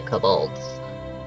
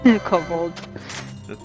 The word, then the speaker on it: kobold: Well, if we're gonna go off that, then it's obviously kobolds. Kobolds. Interesting pronunciation. You put the emphasis on an interesting syllable.